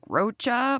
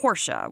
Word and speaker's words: Rocha: It looks like Roachcha, but it's pronounced Horscha, which sucks for me.